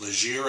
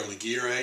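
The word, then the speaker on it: Légère: I've matched it with a lazier a or legiere a depending on how you pronounce that plastic Reed it's a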